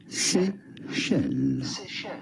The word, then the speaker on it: Seychelles: Seychelles sounds like Michelle, like Michelle.